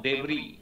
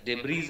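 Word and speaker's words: debris: ওকে, তারপরে আরো রয়েছে ধরো ধ্বংসস্তূপ, ডেবরি, DBRIS, ডেবরিজ আমরা বলি কিন্তু উচ্চারণ হবে ডেবরি, DBRIS, ধ্বংসস্তূপ, ডেবরি, এটা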